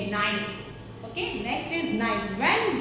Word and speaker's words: Gneiss: इसको कैसे प्रोनाउंसिएट करते हैं? नाइस। व्हाट वी से? नाइस।